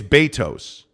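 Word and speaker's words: Beto's: know uh it's well there is a debate about how you pronounce Betos yeah uh Justin Salah says no it's Betos it is b-a-y-t-o-s okay interesting okay Jacob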